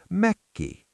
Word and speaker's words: Mökki: The word for a summer cottage is Mökki. Leo, give me Mökki. Remember the double 'K' hiccup! Leo: MÖK-ki.